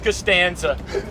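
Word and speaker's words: Costanza: we're going with K Stanger how do you pronounce that again George castanza George George castanza yes sir player big time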